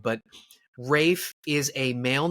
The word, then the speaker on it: Ralph: the Old Norse and so Rafe or Rafe is really how it's pronounced I think we it up by being like Ralph Ralph yes exactly well